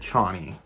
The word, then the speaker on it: Chani: Okay, I just did a bunch of research and they said Chani is how they're pronouncing it in the movie.